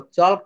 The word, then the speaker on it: chalk: এটা CHALK, এটা বলবো চক না চক, টল্ক না টক, অল্ক না অক।